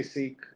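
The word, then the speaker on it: Sikh: uh I have preferred to say seek when talking about sikism to Americans because that's easier to understand but uh sik people who are from the religion many of them who do say sik to Americans will say the right way to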